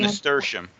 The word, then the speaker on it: nasturtium: They want to know if they can plant seeds for I'm sorry, I don't know how to pronounce it. Is That's Nasteria? nasturtium.